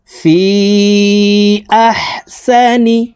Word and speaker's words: في أحسن: ইনসানা লাকাদ খালাকনাল ইনসানা ফি আহসানি। ফি এখানে 3 আলিফ টান হবে, মদের হরফের উপরে চিকন চিহ্ন বামে হামজা, মধ্যে মুনফাসিল 3 আলিফ টানিয়া পড়িতে হয়। ফি আহসানি তাকওয়িম।